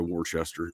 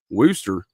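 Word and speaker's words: Worcester: Why in 1991 would a the war wor uh I'm sorry Warchester worooster it's spelled w o r c e s t r but I think they call it worooster Massachusetts district attorney said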